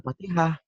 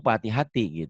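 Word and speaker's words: فاتحة: Fatihati gimana kalau dihentikan? Ya Fatihah. Jadi H. Tapi kalau disambung Fatihati gitu. Bukan patah hati ya, Fatihati. Ya, mulai.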